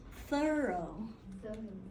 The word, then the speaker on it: thorough: bad as French and this word is thorough thorough so this is not drive through this is a different word thorough would you like